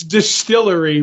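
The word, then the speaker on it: DSTLRY: comic company Nam disly DST LR it's Distillery but no uh vowels that's helpful MH so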